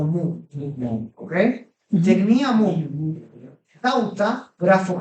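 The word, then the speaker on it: μου: Noten que ahí, en ese diptongo que tenemos la omicron y la ypsilon, la O pasa desapercibida. La O pasa no lo pronunciamos O. Y de hecho, no pronunciamos la ypsilon como U. Ahí pronunciamos como valor tipo U normal. Por eso yo no digo mu, tampoco digo mo, digo mu.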